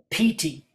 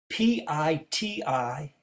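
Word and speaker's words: pīti: So the Pali is piti, P-I-T-I, pronounced with a long I, P-T, like P-E-E-T-E-E.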